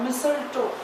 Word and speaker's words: mistletoe: Okay, examples of partial parasites are mistletoe, mistle, T is silent, mistle, mistletoe, TOE. mistletoe, mistletoe. Okay, so this is the T silent over here.